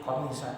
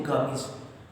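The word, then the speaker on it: قميص: Maka tahu oleh komisa. Kemudian mereka lalu memasangkan pada saya gamis. Sebenarnya gamis itu bahasa Arab komis. Cuma ejaan Mesir komis jadi gamis.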